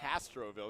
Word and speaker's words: Castroville: It's Castroville. There's there's nothing hard about it. It's pretty easy to pronounce.